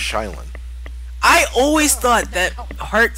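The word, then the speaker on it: Sheindlin: The Honorable Judge Judy Shenlin presiding. Fuck! I think you got the last name wrong, but who cares? That's how you say it. I think it's Shylin.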